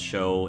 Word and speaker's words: Show: have told me that the guy's name is show pronounced show not shoe because it does make sense more with the whole show time I don't know I